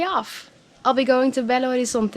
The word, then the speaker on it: Belo Horizonte: Belo Horizonte, or Belo Horizonte, like I learned how it's actually pronounced, is the 6th largest city in Brazil and has 2.5 million inhabitants.